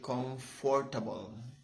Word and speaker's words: comfortable: It's not actually comfortable. I learned it when I had my, virtual training with my company. It's not really comfortable. So it's like silent F-O-R, comfortable, so hard.